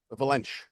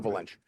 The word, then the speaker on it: Valente: you could talk like Pedro Valente, Valench, the proper pronunciation, right? Pedro Valench.